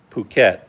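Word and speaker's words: Phuket: you say p h u ke T that's puket but how do you would you normally say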